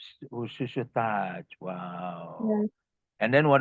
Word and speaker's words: chuchotage: It's chuchotage. Shushutaj.